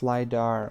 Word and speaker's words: LiDAR: Oh, it's pronounced LiDAR. Okay. Good to know. Thank you. Like radar, but with light.